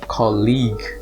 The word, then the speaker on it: colleague: or study with and it's pronounced with a hard g so it's colleague college colleague the next